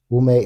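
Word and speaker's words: Wu Mei: Wume is the Mandarin pronunciation of Ningu.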